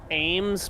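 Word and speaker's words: Eames: Ames, but it's spelled E-A-M-E-S.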